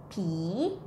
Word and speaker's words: ผี: The word pi is popping and then sound like e, pi.